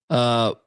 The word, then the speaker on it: Bilodeau: How do you pronounce that, Colby? Bilodeau.